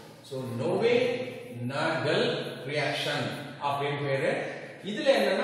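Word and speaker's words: Knoevenagel: that is அது பேரு Newenagel reaction பேரு. K silent pronunciation. so Newenagel reaction அப்படினு பேரு.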